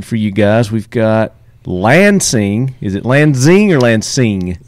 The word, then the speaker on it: Lanxang: We've got Lanxang. Is it Lanxing or Lanxing? Lanxang. It's The neither of those that I just That's said. kind of pronounced like a Z. Lanxang Tactical. Lanxang Tactical.